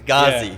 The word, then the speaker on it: Ghazi: Am I pronouncing Ghazi. Ghazi.